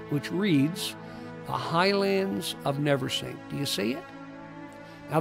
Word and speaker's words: Navesink: And so Navesink eventually transformed into Navesink, and that's the way it's pronounced. Navesink, not Navesink.